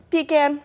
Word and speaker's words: pecan: Pecan. It's pecan. Pecan, Jessica. Welcome to Texas.